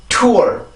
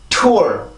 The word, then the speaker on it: tour: tour, tour, tour. 다시 한번 tour, tour, tour. 자, 그러면 우리나라 말에 투어랑 비교를 해보면 우리나라의 투어와 영어의 tour, 이 발음은 완벽한 차이가 있습니다.